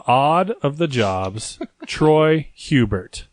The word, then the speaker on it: Hubert: of the jobs Troy Hubert it's actually pronounced who the bear who bill yes it French yeah it's a French last name agent es or silent